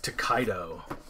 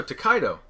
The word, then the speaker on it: Tokaido: Yes, Tokaido, which we just recently learned how to pronounce properly. Thank you. So we're from the Maritimes. Yeah. We say words weird. Yep, we do. All the time. So, Tokaido.